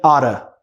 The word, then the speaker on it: ought to: Igual o got to, que vira gotta, o ought to vira oughta, oughta.